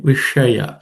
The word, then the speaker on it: विषया: Traigunya Vishaya. The sh is the cerebral sh. The tip of the tongue ideally should be pointing upwards.